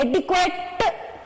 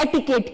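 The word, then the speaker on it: etiquette: Next आप देखिए ये स्पेलिंग कौन सी है, एटिक्वेट, इसको कैसे बोलेंगे, एटिक्वेट, इस तरीके से बोल, लेकिन फ्रेंड्स ये स्पेलिंग है एटिकेट की, एटिकेट मीन्स क्या होता है, मैनर्स।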